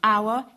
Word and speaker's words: hour: Il suffit de se souvenir de l'homophonie entre hour et whore qui caractérise la prononciation élisabéthaine et qui favorisait une vision grivoise du temps.